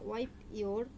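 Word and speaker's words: wipe: ওয়াইপ ইওর, ওয়াইফ না, ওয়াইফ মানে বউ, এটা হচ্ছে ওয়াইপ মানে প উচ্চারণ হবে।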